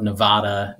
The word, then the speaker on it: Nevada: tiny little town called nevada missouri it's about like nevada next to a town called el dorado uh spelled like el dorado so it's south